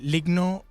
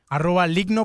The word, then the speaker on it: Lygno: Bueno, en Ligno Productions nos consiguen en todos lados. Ligno se escribe L-Y-G-N-O.